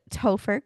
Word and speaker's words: Topher: My husband, Topher. Um, his, real name is Christopher. If you're wondering where Topher came from, it's the last two syllables, kind of like Topher Grace from that 70s show.